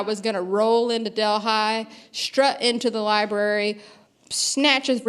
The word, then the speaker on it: Delhi: this town of Delhi, spelled like Delhi, but pronounced Delhi.